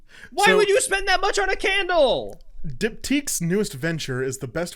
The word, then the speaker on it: Diptyque: I'm on Diptyques. I'm choosing to pronounce it like that. I'm pretty sure it's Diptyque. I think that might be how it is. It's like boutique but dipped.